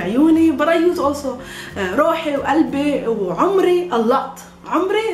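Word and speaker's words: روح: Roh or ruh, the same meaning, but we pronounce it mostly as roh.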